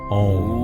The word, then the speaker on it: Om: sound is the syllable Om. Om is made up of 4 parts, 3 which are audible, and 1 which is the silence. We'll start with A. A. Ah, as in father, as in ma, ma.